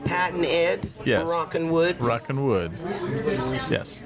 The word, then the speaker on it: Rockin' Woods: You said Rockin' the Woods. Yeah. I said it wrong. You said it wrong. There's no the. Okay. It's like Pat and Ed. Yes. Rockin' Woods.